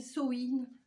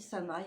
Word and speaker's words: Samhain: Alors dedans, donc cette box sorcière est sur le thème de Halloween, Samhain, Samhain, quand vous voulez que vous le prononcez. Moi je dis Samhain, hein, voilà, je le prononce comme ça.